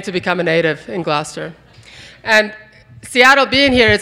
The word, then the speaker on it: Gloucester: And it's Gloucester. So that was 20 years ago. And now I've learned that it's actually Gloucester. Half of it doesn't get pronounced. I'm beginning to become a native in Gloucester.